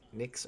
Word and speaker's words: Nyx: miss the next drop is it nyx or nyx in in period why period x or how do you pronounce it nicks or nyx i'm going to say next until somebody corrects me you're not correcting me so apparently it is nick's i'm going to keep